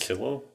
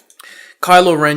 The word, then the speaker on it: Kylo Ren: villain Cole Wren I think his name is kilo kilo kilo kylo kylo Ren yeah got it eventually now I know how to say it kylo Ren you get to see him you get to